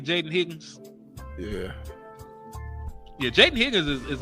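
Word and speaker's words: Jayden Higgins: Jaden Higgins.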